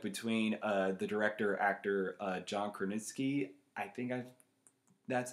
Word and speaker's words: Krasinski: And I love the dynamic between the director, actor, John Krasinski.